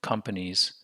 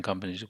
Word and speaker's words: companies: stress on companies so we don't say companies if you said companies then the stress is on the pennies but we say come big syllable pennies not stressed syllable the goal of the